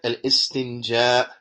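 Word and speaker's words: الاستنجاء: He says, and al-istinja, that is well known. The istinja, that is well known. Naam, al-istinja. And this is how it should be pronounced.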